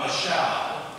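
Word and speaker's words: מָשַׁל: The Hebrew word for rule, and I just put that up on the screen because I could, that it's pronounced mashal.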